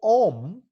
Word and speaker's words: Om: In fact, the syllable Om has 3 sounds. A, U, Um. A, U, Um. Om. Om.